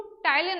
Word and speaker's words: ptyalin: ठीक है, किसके थ्रू, टाइलिन एंजाइम के नाम से, PTYALIN। P साइलेंट होता है इसमें, तो टाइलिन नाम का एंजाइम है जिससे क्या होता है, ये ब्रेक डाउन कराता है कार्बोहाइड्रेट का।